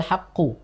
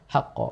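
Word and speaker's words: الْحَقَّ: sini hual haqqo ini sering keliru terbaca hual haqqu makanya saya ketika nyimak eh santri begitu di apa halaman ini saya sudah Tandain dulu nih di hual haqqo Tandain biasanya orang sering keliru dibaca di sini dibaca haqo harusnya adalah haqqo haqo Nah jadi Jangan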